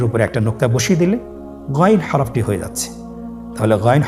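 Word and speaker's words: غين: উচ্চারণ করা যাবে না যেহেতু হরফটি মোটা এজন্য মোটা করে উচ্চারণ করতে হবে মাশল্লাহ আলহামদুলিল্লাহ আমরা আজকের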